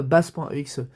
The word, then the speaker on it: Bass: Je le prononce à la française parce que si je devais la prononcer à la japonaise et à l'anglaise ici ce serait base.eexe. Bon voilà quoi, c'est nous francophones, on a nos propres notre propre prononciation.